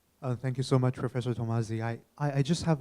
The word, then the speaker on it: Tomasi: Thank you so much, Professor Tamazi. I just have a. Thanks for pronouncing my name right.